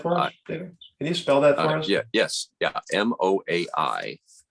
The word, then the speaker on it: moai: MOAI. And it's coincidentally enough, just like the moai of the Easter Island statues, but it doesn't mean the same thing at all.